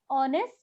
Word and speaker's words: honest: यहाँ पर ये H जो है इंग्लिश का कॉन्सोनेंट, पर ये एक साइलेंट वर्ड है।